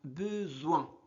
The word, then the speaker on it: besoin: pein point soin besoin Ici, on prononce Z. Pourquoi ? Parce que la lettre S est située entre deux voyelles E et O. Donc besoin, c'est bon.